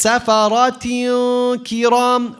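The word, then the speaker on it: سَفَرَةٍ كِرَامٍ: So here it's safarat kiram. What do we have here? Ta, kasratan. After is a kaf. What tajweed ruling do we have here? Ikhfa. So it's safarat kiram.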